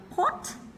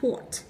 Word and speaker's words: pot: Mọi người chú ý cái từ của mình sẽ không đọc là pot giống như thành dấu sắc nhá. Cái dấu sắc thì nó sẽ hơi thiên về tiếng Việt, chúng ta sẽ đọc coffee pot. Cái giọng của mình nó sẽ trầm một chút.